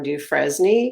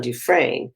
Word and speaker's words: Dufresne: I always thought his name was John Dufresne because that's how it's spelled, but I guess because I'm not from the South, I didn't realize his name is pronounced John Dufresne.